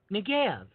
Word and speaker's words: Negev: God said Negev. That's how you pronounce it.